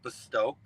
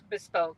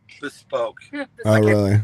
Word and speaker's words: bespoke: You know, in the high-end world, the uh the custom colors are called bestowed. Bespoke. Bespoke. Say it right.